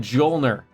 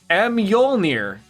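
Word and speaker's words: Mjölnir: Mjolnir. Nailed it. No, it's not. It's not silent. It is not silent. I cannot believe that is just called Jolner.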